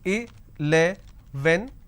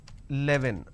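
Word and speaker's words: eleven: So I can pronounce this as a, le, ven, but lot of people pronounce this as 11. Right? Now that's a mispronunciation. This is where they go wrong.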